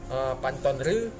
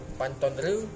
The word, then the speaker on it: Pante Ceureumen: Jadi kalau di utara itu ada Kecamatan Sungai Mas, kemudian di sebelah baratnya ada Kecamatan Pantonre, tulisannya REU, Pantonre, bacanya REU.